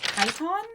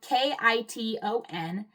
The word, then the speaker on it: Kiton: Second to last brand is Kyon, spelled K I T O N.